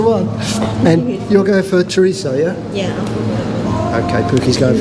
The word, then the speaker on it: chorizo: third book tourism oh Spanish I think pronounce it chorizo most English people a lot of westerners say chorizo with a z say but whatever it tastes